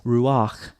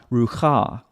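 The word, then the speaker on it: רוּחַ: then the vowel but sometimes you pronounce the vowel and then and then the consonant that's the case here that's why it's Ruach not Ruka because the vowel comes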